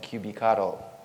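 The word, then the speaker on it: kubectl: year so since then it is pronounced cubic ATO because of the cuttlefish that we have on on our t-shirts but then again I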